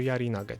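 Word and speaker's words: 槍投げ: uczyli rzucać często ten to słowo jest tutaj zapisane nawet bez tego g Czyli po prostu ten pierwszy znaki ten drugi kręci ale czyta się jarige czyli rzut oszczepem następnie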